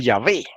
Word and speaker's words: Yahvé: Entonces, escrito con W, usted puede decir Yahweh, que es la forma antigua de decirlo, o también puede decir Yahvé.